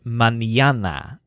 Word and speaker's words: mañana: his guests start yawning the word for morning is manana so that stresses the syllable young mañana actually both means